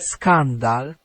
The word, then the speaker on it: skandal: from scandal is that if it sounds like a K, it is a K.